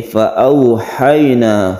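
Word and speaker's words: فأوحينا: Fa'auhayna, fa'au, ini au membacanya menjadi huruf u dilemaskan, ini namanya layin. Fa'auhayna sama dengan ha yang berfathah kemudian sukun ya, ini juga merupakan mat layin yang kita lemaskan.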